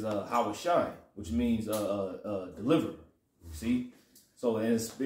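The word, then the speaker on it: הושע: Hosea, how you say it in the Hebrew, is Hawashai, which means deliver, see?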